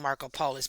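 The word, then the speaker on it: Markopolos: Marco Pol, well they say his name Marco Polus by Macopoulos.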